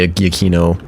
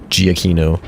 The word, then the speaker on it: Giacchino: robber you're supposed to say his name eggie eggie keno giacchino in the lost version of this episode we're